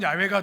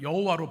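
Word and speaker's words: Yahweh: 그 이름을 이제 야외 사실 발음은 야외가 더 어 맞는데 우리 개혁 계정이 여호와로 번역을 했기 때문에 우리 정서상 여호와라고 부릅니다 여호와 하나님을 알게 된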